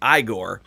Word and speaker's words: Igor: that it is not in that movie not pronounced eigor it is pronounced igore because all right I'll explain the the the